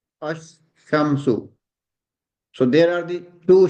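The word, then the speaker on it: الشمس: When we will pronounce, we will pronounce it ash. Then the second one will be shamsu. Ash, shamsu.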